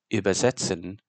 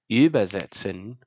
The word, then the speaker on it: übersetzen: Word stress is also usually realized on the lexical root, thus the first syllable, but this can often be used to distinguish between the meanings of words, where übersetzen is to ferry someone across a river, but übersetzen is to translate.